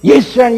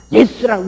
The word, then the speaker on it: 예수: 그러니까 여러분 예수라는 이미 여기저기 많다고서 솔직히요 나는 한국 사람인 것을 참 감사 지는데 우리는 예수라는 바음은요 헬라 바보고 아주 100% 똑같습니다. 지저 이거는 엉뚱한 이름이에요. 솔직해서요. 예수라는 우린 참 좋은 발음을 가지고 있어요.